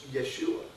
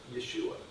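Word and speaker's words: ישוע: But do you know how it's pronounced in the Hebrew language? It's Yeshua. Yeshua.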